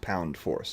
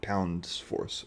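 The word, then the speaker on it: pound-force: of thrust that that that's how it's pronounced pound force not pounds force or pound forces um and it's abbreviated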